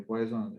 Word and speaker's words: Poisson: Se escribe Poisson, es francés en el señor, entonces le decimos Poisson.